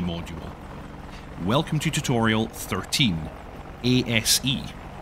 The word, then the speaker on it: ASE: Welcome to tutorial 13 asse pronounced ACE uh I'm led to believe.